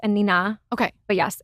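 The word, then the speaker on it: Anine: I thought it was Annie Bing. So everybody does. Oh, okay. Yes. Okay. I believe she's Swedish. Okay. I only recently learned that it's Anina.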